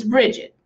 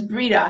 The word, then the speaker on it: Brigid: pronounce her name it's Bridget okay that's how we speak it now in common English is Bridget but you can pronounce it as Breda however is usually Bridget